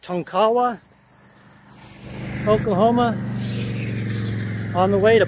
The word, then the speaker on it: Tonkawa: I'm on Highway 177, just east of, I think it's pronounced Tonkawa, Oklahoma, on the way to Ponca City.